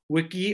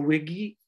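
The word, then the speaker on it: Wigi: And understand that when we talk about Humboldt Bay, it is pronounced or called Wiki or Wiggy.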